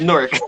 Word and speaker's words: Newark: And it is pronounced Newark.